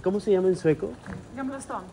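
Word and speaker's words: Gamla stan: vieja de est cómo se llama en sueco gam Stone gaml Stone a ver dilo otra vez gam y Dinos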